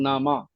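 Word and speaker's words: نامه: ऐसे बोलते हैं हम लोग नामा हमसे मुराद यहां से ले पूरे पड़ोसी देश से ले अफगानिस्तान तक इसका प्रोनाउंसशन यही है नामा ठीक है ना पैटरानियन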